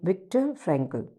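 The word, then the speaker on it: Viktor Frankl: So exact pronunciation is विक्टर फ्रैंकल.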